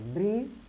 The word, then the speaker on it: bridge: शब्द के अंत में, अंग्रेजी शब्द के अंत में डी के बाद जी ई, यानी डी के बाद जी ई आता है तो डी का उच्चारण नहीं करते, यानी हम इसको नहीं